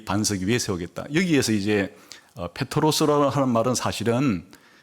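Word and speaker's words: Πέτρος: 반석위에 내 교회를겠다 이래서 베드로라 말은 이제 발음을 제대로 하면 페트로스 어 이런 뜻이고요 반석이란 것은 페트라 이런 단어입니다 그러니까 너는 페트로스 근데이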